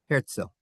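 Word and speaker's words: Herzl: It's actually spelled h e r zl. But in German, if you have a z in the middle of a word, you pronounce it szil. Theodore herzil.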